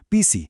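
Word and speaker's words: phisi: Con una P simple, pisi, es menos. Si le agregamos un soplido de aire, una aspiración, pisi, se convierte en gato.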